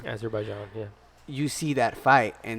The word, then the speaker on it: Azerbaijan: Azerbaijan. Azerbaijan, yeah.